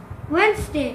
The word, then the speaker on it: Wednesday: Wednesday. Wednesday. Wednesday. Da is silent.